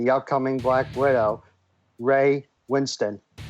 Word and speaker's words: Winstone: Yes, I believe it's pronounced Winstone. Okay.